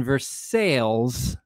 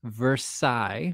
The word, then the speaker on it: Versailles: in versailles kentucky yes i know that that is pronounced versailles but we are kentucky and uh we're going to put out things the way that we want but uh you can say it with me versailles it's not versaille it's versailles we